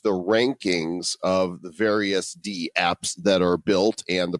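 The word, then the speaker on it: dApps: the correct pronunciation is d apps and it's kind of like email so when we call it damps we're kind of disrespecting the the name so i think we should call it DAPs actually that actually makes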